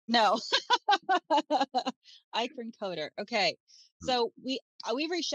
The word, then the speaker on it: Eikerenkoetter: the last name for me of course it's pronounced thank you yeah not as as it looks right no I coder okay so we we reached out to you